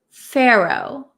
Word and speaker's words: pharaoh: it's a little tricky the pH sounds like an F but we don't write the letter F we write pH and you